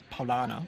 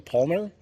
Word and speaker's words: Paulaner: It was the Palmer? Yeah. Palmer. Am I saying it right? Paulaner.